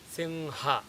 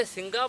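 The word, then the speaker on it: सिंह: So if you do that, you will get the correct pronunciation. So the correct pronunciation is singha, singha. I am about to say singa, but at the last second, I am dropping ga, instead I am saying ha. So I get singha, singha, singha.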